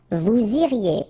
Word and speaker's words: vous iriez: Then vous iriez. So same thing here, make the liaison. Vous iriez. Remember, when you get this EZ at the end, you get the sound E.